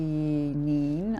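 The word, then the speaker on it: Kneen: And Maggie Neen, I'm going to pronounce her name, I think it's a silent K there at the beginning, is the creator of this one.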